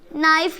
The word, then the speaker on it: knife: ठीक है, ये के साइलेंट है, मतलब साइलेंट।